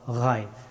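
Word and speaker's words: غين: অনেকেই গা গি গু বলে থাকেন, এটা শুদ্ধ হবে না। গা রি গু, গা রি গু, এইভাবে বলতে হবে।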